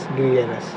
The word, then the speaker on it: gregarious: Pronunciation में दिक्कत हो सकती है दोस्तों, ठीक है। इसको हम क्या पढ़ते हैं? GREGARIOUS, ग्रीगेरस, ठीक है।